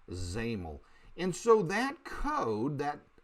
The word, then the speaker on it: XAML: XAML, that's how that's said. XAML is pronounced XAML.